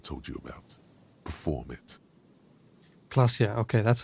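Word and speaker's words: Klaasje: Klasia. Okay, that's how it's pronounced.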